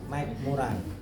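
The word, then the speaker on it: McMurray: Ini bacanya Mike MC master master. Mik murai karena ini tes-tes terkenal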